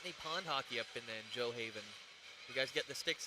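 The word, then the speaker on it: Gjoa Haven: Oh, Joe Haven. Joe Haven. Joe Haven. Cool. But the way you spell it. Is Joe Haven. The way you spell it is Gujoa Haven.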